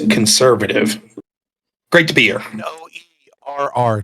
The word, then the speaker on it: Noerr: N-O-E-R-R, 2 R's. That's right, Noerr. Right. It's pronounced like the conjunction or the rice company that makes the rice dishes, but spelled different, so...